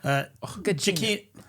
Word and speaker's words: Giacchino: Giacchino. Wait a minute. Man, I look this up every time. Giacchino. This guy's been in our lives since Lost. That's true. I think he's Giacchino.